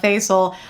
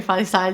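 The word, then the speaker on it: Faizal: by Hafsa Faal, Hafsa Fasil, however you want to say it. My tongue likes to say fal just because it sounds pretty. However, I know it's technically in English pronounced as fasil.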